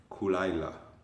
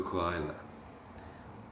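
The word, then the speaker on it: Caol Ila: I bought myself for my birthday a bottle of Kulaila, the scotch.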